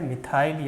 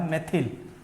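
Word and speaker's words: methyl: ठीक है, मिथाइल या मेथिल दोनों ही प्रोनाउंसिएशन एक्सेप्टेड हैं।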